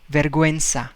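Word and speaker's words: vergüenza: verguensa in spanish verga okay now here we pronounce u because double dot is there verguenza that means same shame we have the word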